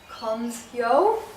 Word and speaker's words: Colmsjo: author of The Amazing Army, Gets Kids Healthy book, and I'm with Monica Colmsjo. Yes. I pronounced it correctly?